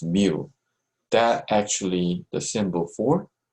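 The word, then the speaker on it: μ: And this is how we pronounce mu.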